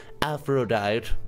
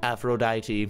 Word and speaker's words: Aphrodite: being very loving by being completely honest okay afro diet Aphrodite I don't really not done on the don't long absentia on the pronunciation ooh very good so now we got